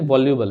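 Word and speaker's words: voluble: वैलुएबल नहीं वॉलुबल है।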